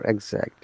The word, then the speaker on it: exact: Okay, let me show you for exact. Yeah. And after that, we're going to make some sentences with these words. Can you see? There is I sound at the beginning. Exact. Exact. Exact. That's American.